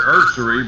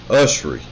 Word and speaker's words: Ussery: You call your friend there Ursery, but there's no R in his name. Is this your colloquialism, or is this actually the way he pronounces his name, or is this a Brian Blackism? Just curious. No, it's pronounced Ussery.